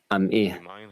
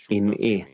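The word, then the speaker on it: עמי: Do not pronounce, you are my people, am'i, with a patach in the ayin, but you are with me, im'i, with a chirik in the ayin, which means partnering with me.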